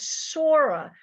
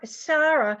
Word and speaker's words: Sarah: My mother's Hebrew name was Sora, not Right. Sarah, That's because he said to me, Polish Ashkenazi pronounced it Sora.